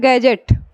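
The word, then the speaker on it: gadget: का अगला एग्जांपल है गैजेट जी ए डी जी ई टी गैजेट यह बताइए डी का उच्चारण कहीं हो रहा है नहीं हो रहा हम क्या पढ़ रहे हैं गैजेट गैजेट मीस होता है उपकरण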